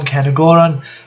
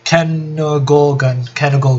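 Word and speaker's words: Cairngorgon: the OCG, one Deltaros, one Dark Rebellion, one Kenogoran, or however you pronounce that, what is it? Kenogorgon, that's it.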